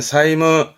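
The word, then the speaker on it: 債務: 되지요 후사이 아까 했던 자죠 요게 채무가 되겠네요 발음은 사무 사무 말 그대로 빚을 갚을 의무를 채무로 하는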